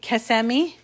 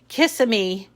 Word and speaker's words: Kissimmee: upper cloverdale kissimmee i'm saying that right right kasemi i remember going there as a kid and we would pronounce it kissamy and they said oh no only after dark